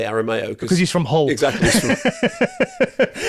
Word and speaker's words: Aramayo: He went, yeah, the Spanish pronunciation is Aramayo, but I say Aramayo.